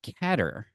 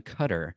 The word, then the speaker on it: Qatar: people pronounce it except cutter rhyming with gutter isn't their favorite haha I don't think